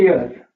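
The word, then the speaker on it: heir: और एक होता है एयर एच आई आर एयर होता है उत्तराधिकारी ठीक है तो वो वर्ड जिसम एच साइलेंट रहता है इससे पहले भी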